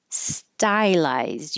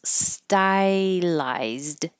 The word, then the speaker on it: stylized: like a apple orchard stylized you can have two syllables stylized or three syllables stylized either way paraplegia this Gia here